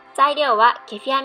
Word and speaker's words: kefir: It's pronounced "Kefir" in English.